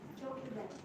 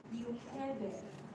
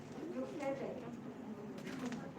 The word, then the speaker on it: Jochebed: So in English, her name is Jochebed, but in Hebrew they pronounce it Yochebed. Yochebed.